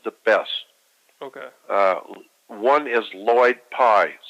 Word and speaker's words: Lloyd Pye: One is Lloyd Pye, spelled with 2 L's, L-L-O-Y-D.